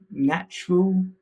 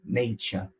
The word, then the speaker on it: nature: cultural cultural and U nature sounded more like natural so nature nature they are mostly quite